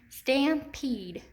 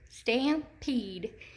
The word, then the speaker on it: stampede: And if I say it with my hand under my chin, stampede, stampede, I can hear that long E in the second syllable.